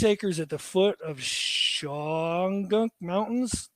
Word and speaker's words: Shawangunk: So they've got 36 acres at the foot of Shawangunk Mountains. Did I pronounce that right? Shawangunk, yeah. Shawangunk. Okay. Shawangunk. Yep.